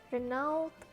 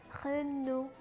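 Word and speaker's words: Renault: yang cukup terkenal dan aku masih sering dengar Orang nyebut dengan renouw winnow bukan yang bener itu pengucapannya dalam bahasa Perancis adalah cleno selanjutnya ada woah atau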